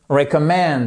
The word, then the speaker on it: recommend: what do you recommend recommend vous voyez ici qu'on a une apostrophe et on a notre accent tonique qui est juste là what do you recomm